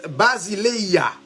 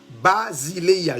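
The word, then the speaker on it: βασιλεία: Maintenant, royaume, non, il vient dans un mot grec qui c'est basileia. Basileia. Je vais me prononcer là comme ça l'écrit.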